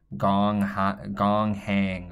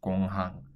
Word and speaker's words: 공항: This one as well, with an English pronunciation, you might want to say gong hang or something like that. I don't really know. So that's not how it's pronounced in Korean. It's pronounced as 공항.